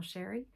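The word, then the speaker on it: Chere: It is spelled a little fancy but pronounced pl Sherry.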